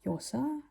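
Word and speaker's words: Llosa: if you pronounce no I think the L in Spanish is like a yach a j sound uh like yosa I hope I pronounced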